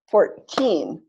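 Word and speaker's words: fourteen: So the way I clap 14 is the opposite from 40. It's 14, correct. 14. I can tell that doesn't sound right. Not 40, sorry, 40. stress on the first syllable. 14, stress on the second syllable.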